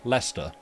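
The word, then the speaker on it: Leicester: Well, it's it's that if you follow the if you follow the convention of like how you say Lester instead of Lester, then Sirencester would be Sirenster.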